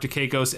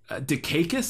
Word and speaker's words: Dukakis: But so then Wolf goes into a room, goes into the room where Mark Dukakis and Russian Mickey Rourke are, and immediately just snaps Russian Mickey Rourke's neck with a belt.